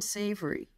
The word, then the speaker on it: Savory: Is his name, do you pronounce it Savory? S-A-V-O-R-Y. Oh, Alan Savory.